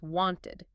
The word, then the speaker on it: wanted: Think want, ends in t. So past tense is wanted, 2 syllables.